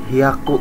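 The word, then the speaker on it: 百: umpamakan spesial Kenapa karena cara bacanya sedikit berbeda makanya spesial kan di sini tertulis Haku itu 100 itu h kakatanya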